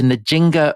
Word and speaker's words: Nzinga: So this is Nzinga of Ndongo. Yes. Have I pronounced that right?